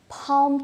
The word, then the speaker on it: palm: I feel come today palm tree bomb all these words have a silent L so this is the